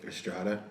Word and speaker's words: Estrada: Estrada.